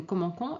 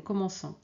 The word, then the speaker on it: commençons: Sinon, on va prononcer comment. OK ? Donc ici la lecture c'est nous commencons et ici c'est nous commençons.